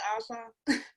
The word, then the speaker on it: Ossoff: Is it Ossoff? Is that how you pronounce it? Yeah, and make sure you do your job, Democrats. They say Ossoff.